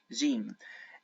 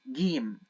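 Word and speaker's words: ج: letter it's uh gim jeim and G it's it's how it's pronounced in the Modern Standard Arabic but in the Egyptian dialect we pronounce it as game I know that they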